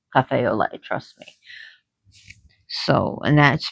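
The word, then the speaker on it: café au lait: Or maybe a cafe o cafe olay. I almost said a lot, but it's pronounced olay. spelled a lot, but it's pronounced Cafe Olay.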